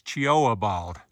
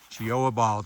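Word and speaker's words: Cheoah Bald: back at the bald it's cha bald I uh read the sign again choa bald so if I said it wrong the first time hopefully this corrects it coming down off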